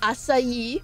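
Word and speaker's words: açaí: along the years and the newest one is asai bols buba what is that face I love it um and yes that's how you pronounce it asai okay hold on I'm searching it up making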